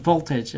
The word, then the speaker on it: voltage: 그래서 voltage 할 때 L이 있긴 있는데 L이 이렇게 강하진 않아. What do you think, Chris? Do you pronounce the L all that strong? I think it's there. It's just not really enunciated.